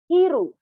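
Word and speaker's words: 昼: Again, slowly, per syllable, asa. Okay? Now, daytime, hiru.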